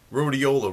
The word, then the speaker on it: Rhodiola: don't know about it it's uh yeah it's Rola rout I guess you call it that's how